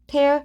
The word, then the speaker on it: tear: tear. 원래 tear라고 발음하면 눈물이고 tear라고 발음하면 찢단데, 그 tear라고 발음할 때 그거의 변화형은 그 tear, tore, 톤이죠.